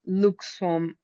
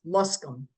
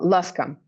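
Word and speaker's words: Luscomb: Um, I also read uh that you co-founded the Florence Luke Swam Women's Center. I I apologize if I'm pronouncing it wrong. Yeah, it's Flor Florence Luskam. Oh, Luscom. There we go.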